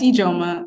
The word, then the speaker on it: Ijoma: Next we have Ijoma. I apologize if I said that wrong. But would you like to speak on yourself, Ijoma? Yes. Hi. Yeah, it's Ijoma. You said it right.